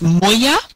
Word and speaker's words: Moya: You pronounce Moya? Is it Moya? Moya. The pronounce my name. Moya.